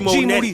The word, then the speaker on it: Moody: He is G Moody. The last name rhymes with duty, for Christ's sake.